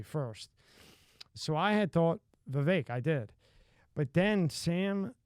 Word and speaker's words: Vivek: It's Vivek, like cake.